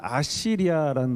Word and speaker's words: 아시리아: 때 가장 강한 나라는 아시리아는 나라였습니다 성경에는 아수라 써 있기도 한데요 아시리아 아시리아 이렇게 발음합니다 우리 한번 지도를 한번